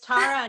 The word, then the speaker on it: Tara: pronouncing my name correctly it's Tara not Tera but everyone says Tara